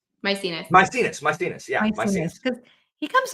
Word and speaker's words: Maecenas: making me think of, and I'm going to mispronounce his name. I'm sorry. Is it Maecenas? Maecenas.